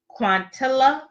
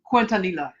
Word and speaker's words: Quintanilla: Okay, so the next person that we have is Selena Quintilla. How do you pronounce it? The Selena. The Selena. Yes, the Selena. That Selena. Yes, that Selena. Okay, but her last name is pronounced Quintanilla.